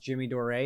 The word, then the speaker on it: Jimmy Dore: no way what's going on here um it's pronounced jimmy dore that's true it is um but we mispronounced